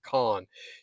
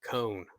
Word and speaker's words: Kohn: It's Raymond Kahn. You spell it Kohn. It's pronounced like John, he told me, so that's great. So I messed that up in one of the first videos, pronounced it cone.